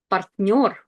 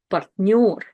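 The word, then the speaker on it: партнёр: Now in this word, you can see we have two vowels, A and yo, but nothing is in blue. You know why? Because yo is always stressed. If you see a word with the letter yo is the one that's stressed. Партнер.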